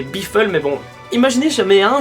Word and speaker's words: Biffle: Alors oui, je sais que c'est un pilote américain, du coup ça va se prononcer Biffle, mais bon...